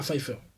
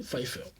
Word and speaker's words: Pfeiffer: J'ai un peu du mal à prononcer son nom. Ah, Pfeiffer. Michel Pfeiffer.